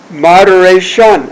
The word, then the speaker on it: moderation: Now that one, shun, French. It's a French word. So, moderation.